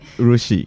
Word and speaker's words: urushi: So I got to learn a little bit about Japanese crafts such as urushi. I don't know if I'm pronouncing that correctly. Yeah, urushi.